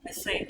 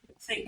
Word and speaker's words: thank: them in a tank when you say I I thank all of you are you putting them in like say bottled water can we say t water so why you say I thank all of you maybe you're putting everybody in a turn and covering them I thank you all look thank you thank you thank you so you